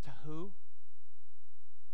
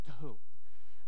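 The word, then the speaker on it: תהו: um without form in the Hebrew is to who and it means uh without shape without distinction without boundaries formless shapeless without form to who the other word which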